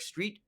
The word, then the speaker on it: Streat: I get it uh you got it right Street it's a it's it's pronounced the way pronounce the way you would expect but not the way it spelled okay sounds good all